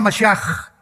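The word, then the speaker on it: משיח: Se escribe Mashiach. Jesús el Mesías en el hebreo. Pero se pronuncia la CH. Yeshua Mashiach.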